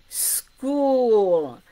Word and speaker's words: school: Sk, school.